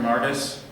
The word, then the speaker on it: Martis: Martis, that's the correct pronunciation.